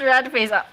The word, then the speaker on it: RDFCE: It's actually pronounced rat face.